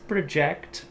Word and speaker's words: project: Aí você vai ter essa ênfase na outra sílaba. Então, we need to project the results for next year.